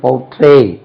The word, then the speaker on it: portray: portray, PORTRAY, PORTRAY, portray, portray. Stress lies on second syllable.